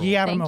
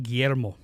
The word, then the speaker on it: Guillermo: How do you say it? Not how I just did it. Guillermo del Toro. Guillermo. Thank you. Guillermo.